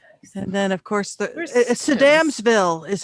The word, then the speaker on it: Sedamsville: And then, of course, Where's Sedamsville is how you pronounce it, according to the Damsville?